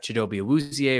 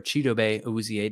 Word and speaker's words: Chidobe Awuzie: I mean, they have Chidobe Awuzie or Chidobe Awuzie, depending on pronunciation, who's coming off an ACL.